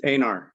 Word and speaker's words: Einar: We got Einar. How do you pronounce that? It's Anar. Einar.